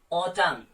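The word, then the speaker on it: autumn: तो आपने यहां पे क्या किया, एन आपने प्रोनाउंस नहीं किया। ऑटम या फिर डैम।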